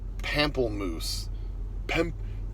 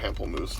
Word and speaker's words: pamplemousse: The flavor is called pamplemousse. Pamplemousse, I think is how you say it. It's French for grapefruit.